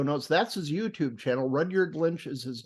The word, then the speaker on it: Rudyard: Very few people pronounce Rudyard correctly the first time. But my parents grew up in the thriving metropolis of Rudyard, Michigan, up on the Upper Peninsula.